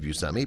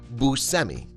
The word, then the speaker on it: Buscemi: For the first half of his life, Steve Buscemi pronounced his name Buscemi instead of Buscemi, but it wasn't until he